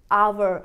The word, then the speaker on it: our: Just like you pronounce hour, you also pronounce O U R in a same way Means when you say our house, then also you will say Aawar house not aaur house Yes i have to